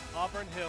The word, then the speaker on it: Auburn Hills: Auburn Hills.